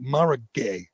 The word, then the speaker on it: Mara Gay: joke uh mara how do you say it mara gay yep man that was fun that was funny